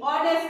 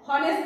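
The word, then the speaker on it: honest: তাহলে কি এখানে এই এইচ এর উচ্চারণটা আমি কি করছি সাইলেন্ট রেখে দিচ্ছি সাইলেন্ট রেখে দিচ্ছি উচ্চারণ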